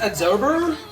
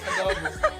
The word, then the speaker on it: adobo: This one is absorber. What? Absorber. Absorber. You should say it like another. Adobo. It's adobo. No, it's wrong. You should say adobo.